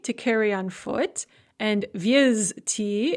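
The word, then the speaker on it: везти: carry on foot, and viezti, it's pronounced visti, but spelled viezti, to transport by vehicle.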